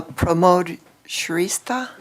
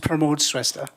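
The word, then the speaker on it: Pramod Shrestha: this next name uh promote sha very very close it's pronounced promote sesta okay thank you mayor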